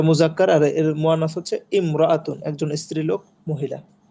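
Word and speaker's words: امرأة: যেমন এখানে ইমরাতুন।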